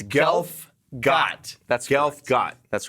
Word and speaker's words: Gelfgot: Mike Delph golf wait tell me Allah it's alright it's it's uh it's it's golf god that's golf God that's right because for years I've been pronouncing it incorrectly and I was never corrected